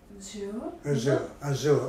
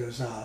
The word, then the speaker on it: azure: Azure. Azure. Can I say that? I said Azar, something like that.